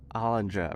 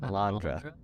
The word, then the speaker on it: Alondra: I remember talking to hollandra right keep saying her name wrong Alondra Alondra I'm so sorry it my tongue